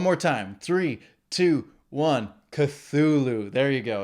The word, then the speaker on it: Cthulhu: times do i have to tell you it's cthulhu th it's a soft th it's not a hard t it's cthulhu say it with me three two one cthulhu one more time three two one cthulhu there you go it's not made for human